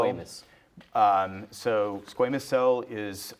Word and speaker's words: squamous: And squamas cell carcinoma, did I say that correctly? Uh, we pronounce it squamas cell. Squamus.